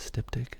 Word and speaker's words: styptic: What is styptic?